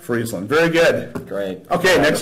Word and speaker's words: Friesland: Friesland? Friesland.